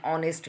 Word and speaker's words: honest: So honest, honor, honorable, all these sounds are writing, we are starting with H, that means a consonant. But when we are pronouncing or the sound is coming at first, honor, awe, that means that is a vowel sound. Honest, awe.